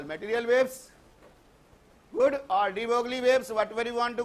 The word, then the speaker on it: de Broglie: De Broglie, pronunciated as de Broglie.